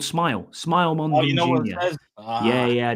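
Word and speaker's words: Smael: Small Mond. Yeah, Small Smile. He's actually called Smile. Smile Mond. Yeah. Yeah, I do. Yeah, he's all right. He is, but it's pronounced Smile.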